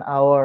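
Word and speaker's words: hour: আর এই যে বলছে এইচ, অনুচ্চারিত এইচ, সাইলেন্ট এইচ, একটু এখানে যেটা বোঝাচ্ছিলাম, এগুলোর ক্ষেত্রে কি হবে, অ্যান বসে। An honest man, অ্যান আওয়ার, an hair, hair মানে কি গো, এইচ ই আই আর।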